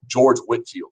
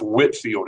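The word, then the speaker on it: George Whitefield: the new denominations and that is pronounced Whitfield even though it's written like Whitefield and he traveled and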